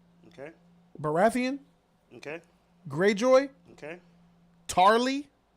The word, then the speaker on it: Tarly: Baratheon okay Greyjoy okay tarly no Charlie that's not that's not how you say it well yeah Sam